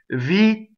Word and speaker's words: Vittoria: So da, ta, exactly where that is, not ta, where it becomes completely unvoiced. Da, ta, Vittoria. Okay, so there, that's our double T.